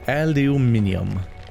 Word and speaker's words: aluminium: They probably pronounce antimeter wrong too. Aluminium.